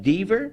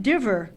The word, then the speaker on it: Diver: It's pronounced Deaver? No, it's pronounced Diver.